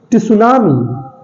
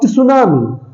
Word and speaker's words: tsunami: Because T is silent, T is silent, and this word is a French loan words.